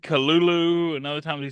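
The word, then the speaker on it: Cthulhu: One time he said kulu and other times he said culu. Yeah. And like the h's were supposed to be like breathy sounds, not actual h's.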